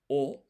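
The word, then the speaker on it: を: So now I say wo, but it's actually o. It's pronounced o, but it's written as wo.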